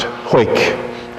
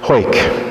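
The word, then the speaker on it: Hawick: Parish St Mary and St David's in it's pronounced hoik I'm sure you guessed that hoik that's just how it looks um and I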